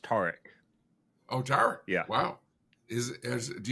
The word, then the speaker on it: Tarek: By the way, my name is pronounced Tarek.